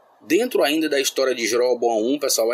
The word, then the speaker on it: Jeroboão: Mas o que realmente marcou o reinado de Jeroboão I foi a forma, ou Jeroboão I, mas pronunciamos realmente Jeroboão I, foi a forma como